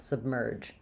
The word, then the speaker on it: submerge: an unreleased B so I stop the air sub and then I release it onto the flowing connected M sound so it sounds like Sub sub stopping and then merge merge uh the E says just the r sound and the g says the J sound submerge um I will